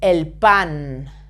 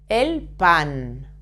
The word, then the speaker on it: pan: sugar sugar bread is El pan El pan a try not to pronounce the letter P very explosive okay now salad La